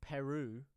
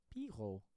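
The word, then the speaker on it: Piroe: Andy Rowe, JT is pronounced Peru after the country. Peru. After the country. Piro. No, you mean Piro. Piro. Joël Peru. Joël Piro. Oh boy, Piro. Seems DJ read my previous comment.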